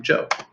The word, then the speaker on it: Zhou: teach you about the Jo dynasty it does look like it sprouts out but it's actually pronounced Jo like someone's name Jo so the basics here